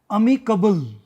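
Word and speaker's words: amicable: दोनों वर्ड अच्छे हैं और कंफ्यूज करते हैं अमी कबल अमी कबल और अमी एबल उच्चारण पर गौर फरमाना प्रोनंसिएशन जो मैं कर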